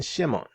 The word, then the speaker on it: Shimon: Transliteration is Shimon. Pronunciation Shimon.